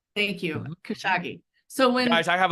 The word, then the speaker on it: Kashigi: Oh, Kashagi. Right? Kashagi. Thank you. Kashagi.